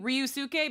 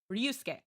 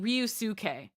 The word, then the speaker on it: Ryusuke: So again, in this case, everyone's saying Ryusuke. So they're adding a Y here that's not here.